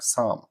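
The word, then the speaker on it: thumb: بي حرف البي بيقوللك عندنا حرف البي نادرا ما يستخدم بعد حرف البي بعد حرف الام قصدي يعني لما يجي ام في الاخر البي في الاخر وقبلها ام غالبا البي مش بتنطق زي الكلمات دي اصبع الابهام صام صم خروف لام اتصل كلايم مشط كومب سباك بلامر طبعا البي ما تقلعش نفس الكلام سايلنت اللي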